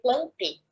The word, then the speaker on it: plantae: Quando nós falamos de vegetal, estamos falando do reino, se escreve plantae, mas se lê plantei.